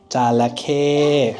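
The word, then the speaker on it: จระเข้: Jalake, right? So there was a husband, jalake, crocodile, and then there was a wife, crocodile, jalake, right?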